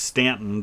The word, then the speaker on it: Staunton: here in stanton virginia i believe it is pronounced stanton despite the fact that it looks like staunton it's going to take